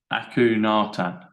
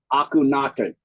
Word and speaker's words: Akhenaten: A-K-H-E-N, like hen, like a chicken. Yeah. A-T, like at.